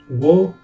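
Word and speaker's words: を: The O character, while technically pronounced as wo, essentially sound like O in real speech.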